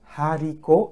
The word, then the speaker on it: haricot: Haricot, it is aspirate.